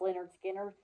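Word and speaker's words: Lynyrd Skynyrd: of all time is their first album pronounced Leonard Skinner and some of my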